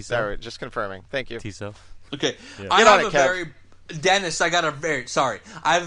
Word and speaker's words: Tissot: How do you pronounce the watch name? Okay, sorry, just confirming. Thank you. Tissot.